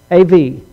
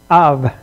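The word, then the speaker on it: אב: The Hebrew word, however, for father is the syllable av, A-V, av.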